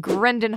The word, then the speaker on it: Grenda: Who's playing Grendan Highforge. It's actually Grenda now. Oh, okay. Yeah, I apologize. So yeah. It's Grenda. Major changes are afoot. Yeah. It's still spelled the same. The N is just silent.